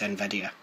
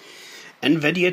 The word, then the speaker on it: Nvidia: and that was amazing that awkward moment when I didn't know how to pronounce nvdia I used to say NV d i a or ndia or called Everything Under the Sun Nvidia chipset driver now chances